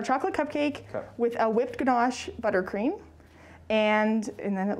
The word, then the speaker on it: ganache: so it's our chocolate cupcake with a whipped ganache buttercream and and then it looks like uh you're known for this grenache right what's so good about this grenache it's ganache and it's um in case you're doing closed